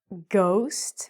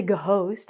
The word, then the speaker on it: ghost: Ghost. We don't say go host.